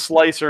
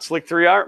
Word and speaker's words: Slic3r: of the belt and it's pronounced slicer and not slic3r my life's complete know